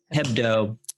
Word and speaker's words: Hebdo: charlie head bow uh head head bow is that how you say it hebdo uh attack and you